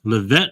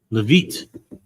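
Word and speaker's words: Leavitt: Uh, Levette, is that how you pronounce it? Levit.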